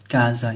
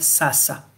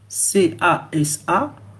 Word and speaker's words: casa: Alors, quand on voit ça, quand on est francophone, on va lire sasa. On va lire sosa ici.